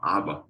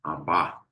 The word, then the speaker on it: Abba: muito importante, nós clamamos Abba, Pai. A pronúncia aqui é Abba, né? A gente fala Abba, mas o correto mesmo seria Abba, a ênfase na segunda sílaba.